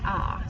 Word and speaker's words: a: They are all just the letter A, and it is pronounced ah.